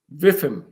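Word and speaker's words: WIIFM: data this information and workers are asking constantly viim which is spelled Wim which is what's in it for me right because what's what's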